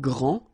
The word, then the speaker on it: grand: that this first form here for the masculine gr so you don't pronounce the final day will be exactly the